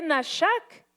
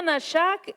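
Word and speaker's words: נשק: Y cuando vemos esa palabra, que me bese con los besos, es una palabra hebrea que se lee nashak, se pronuncia nashak y dice que viene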